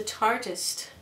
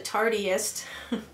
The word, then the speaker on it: Tartist: was the Tartist, and I was told that I pronounced it wrong when I was calling it the Tartiest. I like the Tartiest. I thought that was neat. But if you think about it, Tartist is like artist, only it's Tartist instead of artist.